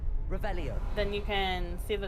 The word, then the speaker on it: Revelio: like the r you gotta say it right revelio then you can see the chest whoa lumos